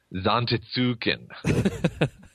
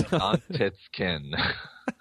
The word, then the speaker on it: Zantetsuken: like Final Fantasy VIII, I would pronounce Zantetsuken. Zantetsuken. Oh, you sound silly. It's completely wrong. Yeah, it's Zantetsuken. Actually, in those games, they were not voice digitized, were they?